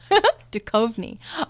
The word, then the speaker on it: Duchovny: Here is an example of David, I'm not sure how to pronounce his name, Duchovny. So he is somebody who has, you can see, 4 different activations. Duchovny. Thank you, Diana. Duchovny. Okay, that's very different.